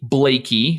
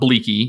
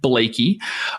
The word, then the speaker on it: Bleeke: so it is Blakey we always have to pronounce last names very clearly because people always mess them up so it is not Bleak it's not bleaky it is Blakey that was our first